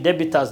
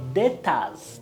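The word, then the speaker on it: debtors: Some people used to pronounce wrongly saying debittors. No we could not say so we could say dattors.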